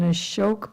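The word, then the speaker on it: अशोक: A S with a thing on top of it, which gives it a sh sound.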